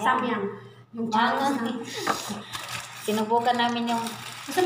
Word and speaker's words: Samyang: Bala, ano yung pag-pronounce dyan? Hamyang po. Hamyang, ah, Samyang. Samyang.